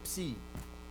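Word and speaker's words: ψ: So psi is a combination of an unvoiced and a sigma. Ps, ps, ps. So you basically have 2 points of articulation, right? Ps, ps, and you combine them.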